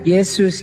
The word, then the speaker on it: Yesus: disebarkan Kristen oleh Belanda bahasa Belanda huruf j dibacanya y jadi Yesus dibacanya Yesus Ini sejarahnya nih ya